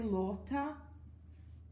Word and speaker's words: Lotta: go for it anyways the first sound la loca I think it is a bit like in Spanish the word loss loss or loss cm - lock lock lock lock or like in France the way they have the au au au revoir so sorry French people